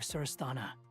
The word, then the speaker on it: Surasthana: Once the connection is established, we'll disappear from the sanctuary of Surasthana. Go help the others. That's how you pronounce it.